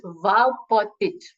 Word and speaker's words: Valpotic: It's Valpotic. Vapotic? Yeah, it's Vapotic. good enough. Do I pronounce the second V? Yes, it's the second V, yes. Vapotic? Kind of. Can you repeat? I'm happy with that. But can you repeat again? Yes, Valpotic. Vapotic.